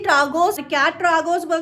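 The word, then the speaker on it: Tragus: तो अभी बोलूंगी मैं ट्रागोस प्रेसिंग की एक्सपीरियंस।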